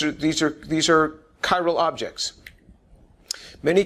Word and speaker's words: chiral: are said to be chyal uh it's a CH but it's pronounced like a hard c chyro chyro means handedness